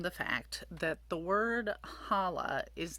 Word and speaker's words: challah: So it's not pronounced challah. The reason you have the CH in English is because they were trying to figure out a way to say, hey, it's not a soft H sound, challah. It's actually a guttural H sound, challah. So the correct Hebrew pronunciation is challah.